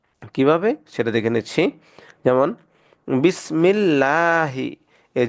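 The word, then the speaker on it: بسم الله: দেখুন এখানে আছে জের তাহলে এটাকে চিকন করে পড়বো বিসমিল্লাহ লাহি এটাকে লহি পড়া যাবে না কেউ যদি বিসমিল্লাহি পড়ে তাহলে সেটা ভুল হবে আলহামদু লিল্লাহি দেখুন এই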